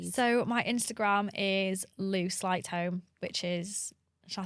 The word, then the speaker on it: Sleightholm: So my Instagram is lou slight home, which is Shall I spell it cuz no one can spell my surname.